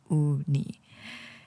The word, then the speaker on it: Uni: It's spelled UNI.OONEE because that's how you pronounce her name, Uni.